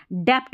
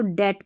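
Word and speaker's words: debt: डेप्ट पढ़ देंगे। यहां पर बी साइलेंट है। बी टी साथ में है ना? बी साइलेंट रहता है तो डेट पढ़ते हैं।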